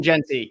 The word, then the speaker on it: Jeanty: Ashton Jeanty, yes.